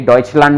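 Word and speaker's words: Deutschland: ये डॉइचलैंड में भी आता है, ठीक है, डॉइचलैंड, चुस,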